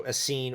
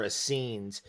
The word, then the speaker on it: Essenes: reference for the Asen Asen is spelled e s n s so Asen or as scenes and you know the